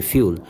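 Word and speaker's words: fuel: ignite on hot surface অর্থাৎ ফিউল বা অনেকে বলেন ফুয়েল যেটা যেভাবে যেন উচ্চারণ করেন তবে একচু শব্দটা হচ্ছে ফিউল সেটা হচ্ছে যে এই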